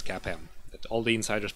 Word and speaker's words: CAPM: about CAPM is that you should pronounce it as cap em that all the insiders